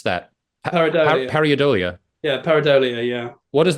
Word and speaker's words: pareidolia: And just incidentally, out of curiosity, that second album, I'm not quite sure how to pronounce that Pareidolia. Pareidolia.